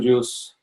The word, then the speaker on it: JeOS: The idea is just enough operating system pronounced as juice.